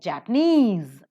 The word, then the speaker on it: Japanese: So Chinese, Japan, P is stressed, but Japanese, N is stressed.